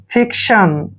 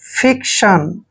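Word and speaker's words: fiction: क्या करेंगे क क्योंकि जब भी सी के बाद टी आता है तो सी का उच्चारण क होता है यानी कि सी के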